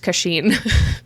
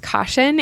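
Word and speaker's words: Kashin: is this is when I wanted to be pronounced kheen but his name is pronounced caution he commanded the armies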